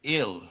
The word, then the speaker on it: El: Uh, it's ill. Ill, man. It's the same word. Is it? They're cognates. They're cognates. They're the same word. They're pronounced different.